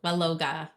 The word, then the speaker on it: Waloga: I think it's just like the difference in our pronunciation because I thought you were saying will, but now I understand it's well. Well, Waloga.